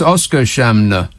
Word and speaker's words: Oskarshamn: Oskarshamn. No, I don't think so. It's Oscar Shamner.